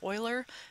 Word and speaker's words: Euler: Because his last name was spelled with an E, even though it's pronounced like it's spelled with an O, they named the number that he discovered after him.